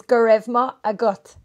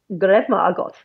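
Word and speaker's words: Go raibh maith agat: In Irish, thank you is Gurevma Agot. Gurevma Agot. Gurevma Agot. That was very good. I won't remember it. I think phonetically I can copy things.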